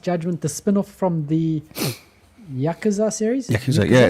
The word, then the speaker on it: Yakuza: one of the characters that are in the yukata yakuza series yakuza isn't it there we go um getting how to pronounce this word so the first one came